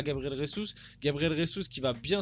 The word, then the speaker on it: Jesus: Voilà, je vous apprends un petit fun fact, les brésiliens et portugais, les J comme ça se dit J, ça se dit pas R comme en espagnol. Voilà, petit cours. Donc c'est Gabriel Jesus de base.